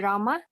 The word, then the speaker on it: Rama: hari krishna pronounced krishna and rama rhymes with drama are sanskrit words hare